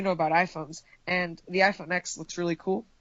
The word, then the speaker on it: iPhone X: And excuse me, it's the iPhone 10. Pronounce it correctly. I refuse to say iPhone 10, because there's no iPhone 9. So it's the iPhone X. iPhone X edition. Yeah, because it's X for 10 years, not for iPhone 10.